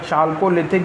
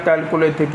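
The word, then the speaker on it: Chalcolithic: तो इसे अगर एच साइलेंट कर लें तो कैलकोलिथिक हो जाएगा, और एच साइलेंट ना करेंगे तो चालकोलिथिक हो जाएगा।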